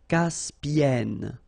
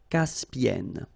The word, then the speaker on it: Caspienne: And N, so it does open the sound here. So it's E. Caspienne. Caspienne.